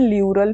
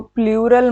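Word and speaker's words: pleural: है उसको बोलते हैं ल्यूरल फ्लूइड। क्या बोलते हैं? ल्यूरल फ्लूइड। देखो प्लूरल मत बोलना, इसे बहुत गंदा हो जाएगा।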